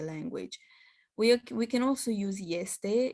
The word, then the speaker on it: este: These are another exception of a word that begins with e, but it's pronounced with ye, ești, este.